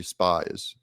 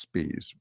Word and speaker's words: Spies: this Democrat operative and his name is Charlie spies it's actually pronounced spes but um this is